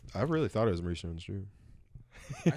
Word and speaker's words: Maurice Jones-Drew: Jones- And then he says Claret, and I'm like, no. Maurice Jones-Drew.